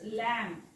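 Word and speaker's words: lamb: नंतर बी आलेला आहे सो वाचत असताना हा आपण शब्द असा वाचायचा आहे इट्स लॅम्प ब वाचायचा नाही त्यामुळे ह्याच्यामध्ये ब लिहायचा नाही इट्स लॅम लॅम वाचायचं याला हा काय असणार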